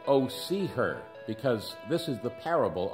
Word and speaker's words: Hosea: this 14 chapter book I pronounce it Oh see her because this is the